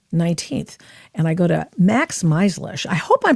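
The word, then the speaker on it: Max Meizlish: Now very sleepy sleepy uh May 19th and I go to Max Melish. I hope I'm pronouncing your name properly with the Foundation for the Defense of Democracies and did I pronounce it correctly?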